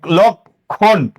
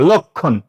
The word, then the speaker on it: লক্ষণ: তাহলে কফ হবে লক্ষণ কারণ খি এর সাথে একটা অ উচ্চারণে আছে মনে রাখবা যেখানেই যুক্ত বর্ণ থাকুক যুক্ত বর্ণের অচ্চারণে সবসময় ও হবে আর এই মূর্ধন্য কখনো উচ্চারণে হয় না দন্তন্য হয় এটার নিচে একটা হসন্ত দিয়ে দিবা লক্ষণ লক্ষণ দুই নাম্বার